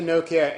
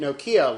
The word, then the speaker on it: Nokia: Here's the Nokia N80. We tried getting away with pronouncing it Nokia like most Americans do last time, and you